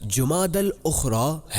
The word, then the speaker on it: جمادی الاخری: سے اس مہینے کا درست نام اور صحیح تلفظ جمادی الاخری ہے۔ جمادی الاخری کے نوافل، جو شخص 12